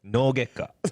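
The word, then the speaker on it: 脳外科: No gekka.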